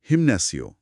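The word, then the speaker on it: gimnasio: অন্যদিকে জিমনাসিও স্পেলিংটা আসলে জিআই দিয়ে শুরু। তো জি এর ঠিক পরেই আই রয়েছে। লাল সিগনালের নিয়ম অনুযায়ী এখানে শক্ত গ) গিয়ার শিফট করে নরম হওয়া হয়ে যাবে। অর্থাৎ উচ্চারণ হবে হিম্যাসিও।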